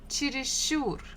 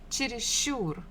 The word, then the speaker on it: чересчур: Next one, number 3, чересчур, чересчур. Here the stress falls on the final syllable, ур, чересчур.